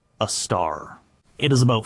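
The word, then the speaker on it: Sagittarius A*: The one at the center of our galaxy is called Sagittarius A, pronounced a star.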